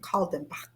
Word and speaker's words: Kaldenbach: See, she told me how to say her last name, Kaldenbach.